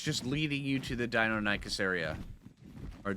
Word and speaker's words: Deinonychus: You follow the path all the way up here, and it's just leading you to the Deinonychus area. Or Deinonychus, whichever way you want to pronounce it.